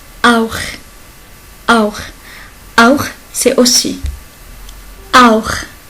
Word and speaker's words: auch: Si CH est venu après A, O ou AO, il se prononce comme auch, auch, auch, auch, c'est aussi.